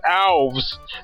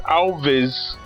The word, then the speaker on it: Alves: reading the novel but she kept mispronouncing the name of mrs. Alves she called there mrs. Elvis and the thing is she